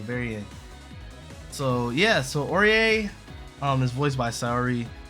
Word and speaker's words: Orie: but yeah that's Carmine next we have Miss orier yes it is pronounced orier not Ori someone actually said like Orient I'm like no no it's not or it's